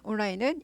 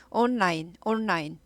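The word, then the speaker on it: online: 온라인은 인터넷으로 주문했다는 거죠. 온라인. 온라인 아니고 온라인, 온이죠. N 발음합니다.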